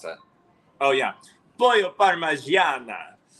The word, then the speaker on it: parmigiana: So I'm going to say my favorite thing was actually the chicken parmesan. It was the same That's night not how that you pronounce it. Oh, yeah. Pollo parmigiana.